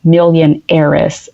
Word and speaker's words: Millionheiress: of the box so a lot of people confuse the Millionaire's Club with the millionaires club they always look at it even though it's spelled differently they still think millionaires but it's million heiress and the reason behind